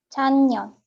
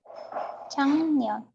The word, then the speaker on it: 작년: 작년, Yes, it pronounced like 작년, 작년. 작년. Okay, 작년 is hard to pronounce, right?